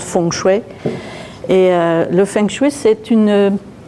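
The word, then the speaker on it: feng shui: fengchoui qui m'a amené je le dis fengchoui par c'est plus facile aux européens en chinois prononce fongchouet Et le fengu c'est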